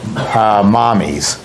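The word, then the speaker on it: Mamis: fruit I use it's it's spelled M am i s which she pronounces mommy's it's Italian for mother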